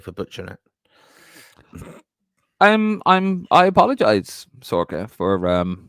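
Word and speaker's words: Saoirse: Good man, Martin. That's how you pronounce my name. How did you say Martin? Doherty? Sorka. There you go, Sorka.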